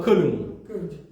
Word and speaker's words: Köln: Que ni lo voy a pronunciar en alemán porque no me va a salir. Pero algo así como Köln.